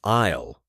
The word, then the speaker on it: aisle: Remember to say the L in aisle. It's a quick, short sound. Aisle.